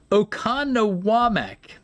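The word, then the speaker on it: Oconomowoc: Okanowam. Okanowamak. And once you figure out the the emphasis uh on the right syllable, it gets a lot easier.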